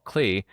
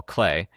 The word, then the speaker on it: Klee: small paintings by Paul Klee, or Paul Klee. His name is spelled with two E's, but as I understand it, it would be pronounced Clay.